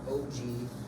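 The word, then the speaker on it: ogee: e e it's called It's pronounced OG and it's just the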